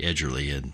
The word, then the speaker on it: Edgerly: explained to him that I said it's edgerly soft gee edgerly and that's how he